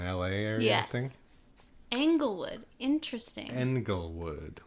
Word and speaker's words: Englewood: Englewood. Like England. Yeah. It's spelled with an E.